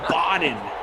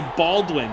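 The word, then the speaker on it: Bawden: depth chart right now Nick bod Boden b a wde n Nick Boden I was I was GNA say Baldwin it looks like Baldwin is spelled his name looks like Baldwin spelled incorrectly that's who that is Nick Boden with the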